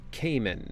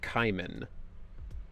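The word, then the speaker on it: caiman: But that's called a Cayman, not a kayman. So, they just say his name wrong all the time.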